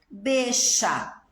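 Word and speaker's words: bella: falei isso para vocês, mas a letra 2 L's na Argentina também tem um som sh. Então, por exemplo, eixa, bexa.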